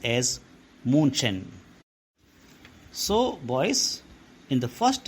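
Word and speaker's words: München: city called Munich although in Jewish it is pronounced as Munchen so boys in the first few minutes itself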